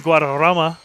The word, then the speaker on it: Guadarrama: Can you roll your R's? Wait, what? That's an awkward question, I know, but Guadarrama. I believe there's 2 R's in his name right there, so I'm going to roll him.